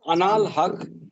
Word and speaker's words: Anal Haq: Pronounced Anal Haq sounds like hawk.